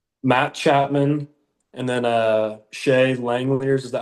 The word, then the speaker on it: Langeliers: Matt Chapman and then Shea Langeliers, is that how you say it for the Yeah.